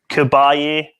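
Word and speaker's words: Caballé: this with the montserrat someone told us how to say it in the side chat actually it is kabalyere so montserrat kabarya festival in 88 um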